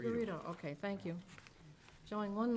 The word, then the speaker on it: Figueredo: Figurito. Figueredo, okay, thank you.